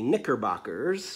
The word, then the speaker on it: Knickerbockers: So I'm starting off with my K, and I'm going to use a silent K because I'm going with the Knickerbockers for my K.